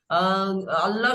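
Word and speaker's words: الله: আপনার যে লামটা আছে সেটা ল উচ্চারণ মোটা পুর কারণ আল্লাহ শব্দের পূর্বে জবর বা পেশ আসলে সকলে শোনেন ভাই তখন সেটাকে পুর করে পড়তে হয় মোটা করে পড়তে হয়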